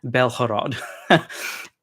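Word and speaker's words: Бєлгород: In Russian, that's pronounced with a g, and in Ukrainian, it's pronounced with a h sound, like an H. So the Ukrainians should call it Belhorod.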